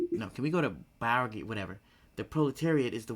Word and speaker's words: bourgeoisie: Bourgeoisie. So that's how it's pronounced?